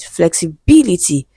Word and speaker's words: flexibility: When you have the e after it, the stress falls on b, right? flexibility that would conform to